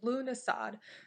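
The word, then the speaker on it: Lughnasadh: So the original word Lúnasad, which is spelled Lughnasad, the really, really long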